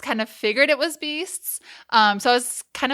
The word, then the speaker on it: BYSTS: social media we have like in Brackets like beasts like just to like let people know that's how it's pronounced cuz we do get a lot of